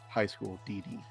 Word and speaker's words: High School DxD: So really it would be like high school D and D, but it's just said high school DD.